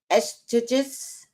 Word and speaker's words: Eustatius: Eustatius.